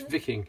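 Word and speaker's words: Wiking: It's because it's German and it's pronounced W, so it's pronounced with a V. So it's Viking.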